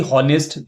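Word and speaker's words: honest: तो हम देखते हैं कि ऑनेस्ट। लेकिन ये एच जो है ना एक्चुअली साइलेंट है।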